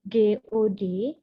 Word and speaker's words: God: Huruf O di kata GOD itu dibacanya apa?